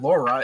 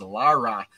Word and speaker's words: Lara: however you pronounce it because I us say Laura coft naturally but it's not Laura it's Lara and never heard of